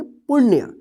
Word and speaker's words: पुण्य: तो इसको क्या पढ़ेंगे, पुण्य, यानी अण पे जल्दी उच्चारण होगा पुण्य, ठीक है, पुण्य, ठीक है।